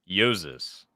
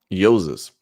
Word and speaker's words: Jousis: I got it right I should just spell it with the Y then then everyone would say yosis but that's how it's